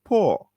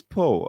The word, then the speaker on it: Poe: It is Rich Poor, not Rich Poo. Okay, Poo is something that is a little bit messy, right? Correct. So it's Poe.